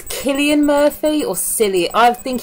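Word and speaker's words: Cillian Murphy: yes we open with I never know how to say his name it's Killian Murphy or silly I think it's Killian Murphy he's I'll need he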